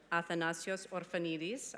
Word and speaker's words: Athanasios Orphanides: management at the MIT Sloan School of Management Athena's Josefa Neely's okay I pronounced it correctly this time you're basically gonna